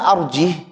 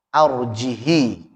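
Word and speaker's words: أرجه: Pada kata arjih harusnya apa? Arjihi gitu. Nanti riwayat lain lagi arjihhu. Kalau kita arjih hanya disukunkan. Qalu arjih wa akhahu. Qalu arjihi wa akhahu. Qalu arjihhu. Jadi ada 3 cara baca itu. Kalau riwayat Hafiz an Asim maka membaca dengan arjih, dengan disukunkan. Kan tadi dijelaskan sebelumnya ya,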